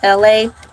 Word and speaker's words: Elay: My name is LA. Pronounce it LA like the city.